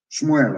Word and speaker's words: Shmuel: dreaming let me tell you what samuel said shmuel of course for the pronunciation as your sword has killed the sons